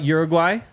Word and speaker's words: Uruguay: Shout out Uruguay. Is that how you pronounce it?